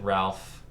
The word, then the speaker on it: Ralph: Ralph Vaughan Williams is technically how you're supposed to pronounce it, but everyone always pronounces it Ralph. I don't really care. I pronounce it Rafe because that's what I was taught, and I'm hyper aware